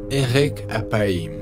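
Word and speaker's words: אֶרֶךְ אַפַּיִם: plus intéressantes en hébreu l'expression lent à la colère se prononce Eric à païm ou littéralement long de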